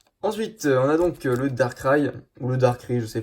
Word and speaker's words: Darkrai: Ensuite, on a donc le Darkrai, ou le Darkrai, je sais pas, il y a beaucoup de gens en France qui disent Darkrai, mais moi je prononce ça à l'anglaise.